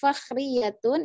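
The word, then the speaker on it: فخرية: Yang fakhriyatun itu iya-nya ada tasydidnya. Jadi ketika ada huruf bertasydid itu harus ditekan. Fakhriyatun.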